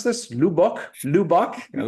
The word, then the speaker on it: Lubbock: I mean, Janine, I was driving the RV and she's like, how do we pronounce this? Lubbock? Lubbock?